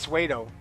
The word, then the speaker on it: pseudo: I think it's just pseudo, actually. The P is silent.